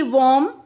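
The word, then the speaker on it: womb: इन the words given below, the letter B is silent when it appears with M, और यहाँ पर letter B जो है वो साइलेंट हो जाता है जब वो एम के बाद आता है।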